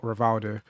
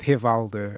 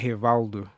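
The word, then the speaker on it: Rivaldo: is it actually pronounced Haldo? And yeah, it is. Um, it's like here Valdo. It's is it's not re the R sounds like a H is what I'm trying to say.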